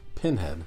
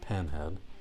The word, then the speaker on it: Pinhead: knows that we are watching Pinhead not pen head how do you spell